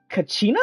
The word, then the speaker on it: Kachina: land uh go to net land which is Kachina that's how you pronounce her name looks like she's a Gil